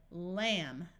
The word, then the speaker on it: lamb: er dummer so again the B is silent when the m and b is at the end of a root we can still add